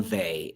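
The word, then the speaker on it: Weil: was a writer named simone vay and um it's spell it w-e-i-l um i would highly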